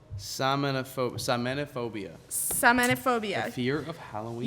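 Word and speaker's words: Samhainophobia: I want to pronounce this. Samophobia.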